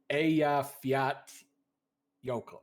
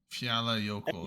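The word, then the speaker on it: Eyjafjallajökull: It's like Eya Fiat Yokel. So the double L is a T sound? Oh, Yeah. J1 is saying it. Fiala Yoko.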